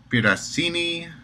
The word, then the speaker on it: Piraccini: profile options well there is a person maurizio piracini um yes that's how you say it maurizio